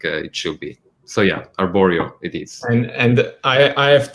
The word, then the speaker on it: arborio: but someone had asked, are we cooking with arborio rice? Is that correct? Is that the correct pronunciation?